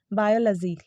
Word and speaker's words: biology: और तो इसका देखो जो सही प्रोनाउंसिएशन है ना वो है बायोलॉजी। लजी आपको लजी बोलना है ना कि लॉजी बोलना है, तो ये इसका करेक्ट प्रोनाउंसिएशन जो है वो बायोलॉजी है।